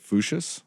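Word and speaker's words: Voetius: It's Dutch, but It's Dutch. it's Latinized. It's Foot, so it's a trick. So the Dutch pronunciation of his actual Dutch name is Foot, and then it just gets smooshed into Fuchsius.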